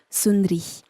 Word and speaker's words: Sund'ri: d a r i donc on a enlevé le a pour que ça se prononce sundri ou sundri c'est devenu sundri en fait et euh